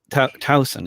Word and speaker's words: Towson: suburb more suburb of baltimore baltimore yeah yeah towson it's pronounced right okay i'm being exposed as a